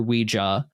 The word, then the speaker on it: Ouija: of beginning of where ouiji comes from or ouija. That's the other thing. It's it is pronounced Ouija.